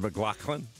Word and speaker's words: MacLachlan: Is it MacLachlan?